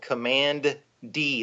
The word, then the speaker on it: Command D: In the first issue, the young blonde kid runs into an old military bunker called Command D, like the letter D.